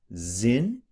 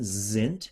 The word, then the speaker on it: sind: Wie lieblich sind. D's are a little bit more like T's in German. Sind. And the S at the beginning is a Z sound.